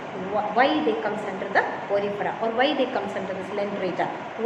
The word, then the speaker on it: Porifera: So listen how it is being pronounced. Okay, phylum Porifera.